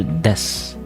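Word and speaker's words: です: No, not desu. Des. Unless you're like for some reason like a new anime girl, then you go desu for some reason. I don't know why, but actually you're supposed to pronounce it as des.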